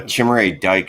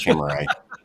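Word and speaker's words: Chimere Dike: Uh, Chimray Dyke is more fun to say. So, I'm going with Chimay, but that's how my kids pronounced it when they saw come off the board. I had to correct them.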